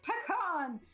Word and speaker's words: pecan: see it says Peak it's pecan so the way that I choose the correct way to pronounce a word is you find where the word originated and then whichever country can claim where that word originated that's how it should be pronounced pecans are a Texas thing therefore it is a pecan not a pecan I stand by it